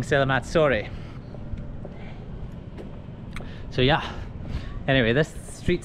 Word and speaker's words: Selamat sore: Everyone's been laughing at me in the comment section because I've been saying Selamat Sore. To say good evening, but Selamat Sore, it's in English it's spelled pronounced sore because it's S-O-R-E, but in